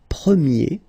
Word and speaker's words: premier: And then the sound will change quite much, because if you think about the masculine form, you pronounce it premier, okay? Premier. And then for the feminine form, you will get première, okay? So it's open, this sound. Première, premier, première.